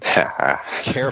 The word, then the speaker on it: char: And it's No One Knows the Type of Car plus Car, or Char plus Char, depending on your pronunciation. Care plus care.